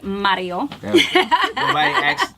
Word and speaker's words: Mario: we got Mario but I like to say Mario pronounced anymore say limits are for Mario you gotta roll your tongue I heard you're good